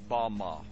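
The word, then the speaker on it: במה: which Satan fell is strongs Hebrew word 116 pronounced Bama Bama is most commonly used to refer to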